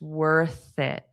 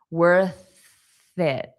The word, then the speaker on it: worth it: It's impossible to form the sound without doing that. Your pronunciation will not be correct.